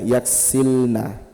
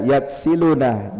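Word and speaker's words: يكسلن: Berarti kalau nunnya di fathah terakhir berarti bacanya yaksilna. Jangan dibaca yaksiluna.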